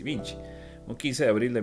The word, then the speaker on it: Vinci: Leonardo Piero da Vinch era su nombre, como les dije, nació en Vinchi, si casi se pronuncia ese Vinci Vinchi, un 15 de abril de 1452.